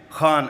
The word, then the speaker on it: Khan: Khan am I saying it right? Khan from the epiglotus.